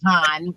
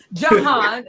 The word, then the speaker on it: Jahan: This is Jahan. I heard you trying to pronounce it. Right. Jihan. Okay, Jahan. Jahan.